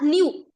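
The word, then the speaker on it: μ: coefficient we we spell we pronounce this as new new into R so what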